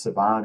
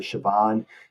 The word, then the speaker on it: Savion: I believe it's TCU, is spelled Savion but pronounced Savon or Siobhan, that guy would be phenomenal.